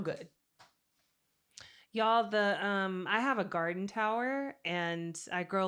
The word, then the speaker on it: Gardyn: Y'all, I have a garden tower and I grow like a lot of leafy greens on it. It's spelled garden with a Y, GARDYN.